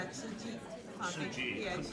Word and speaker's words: Tzu Chi: Yes, it's Suji. Suji, Yeah, couldn't pronounce yeah.